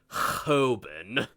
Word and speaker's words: Hoban: Now, in deference to the alumni and students of that school, I shall now pronounce the school's name the way they do. Hoban.